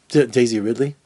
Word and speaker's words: Daisy Ridley: and it just Daisy Ridley she's just beautiful Daisy Ridley yeah that's how you say her name god